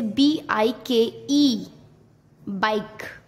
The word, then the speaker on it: bike: जब वर्ड के लास्ट में ई आता है तब ई साइलेंट होता है। जैसे BIKE, बाइक।